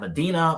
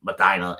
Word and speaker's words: Medina: We also have Medina, Ohio, and Ashtabella, Ohio. I'm kidding. It's Madina and Ashtabila.